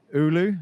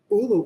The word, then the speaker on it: Oulu: Is it Oulu? Is that how you say it? Oulu-based company? Yeah. Oulu.